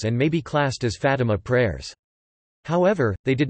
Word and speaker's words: Fátima: The Fátima prayers, Portuguese pronunciation, Fátima, are five Catholic prayers that originate from the Marian apparitions at Fátima, Portugal, in 1917.